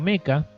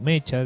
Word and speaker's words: mecha: diferentes o el género meca o mecha depende de como lo pronuncia en cuyos protagonistas pilotean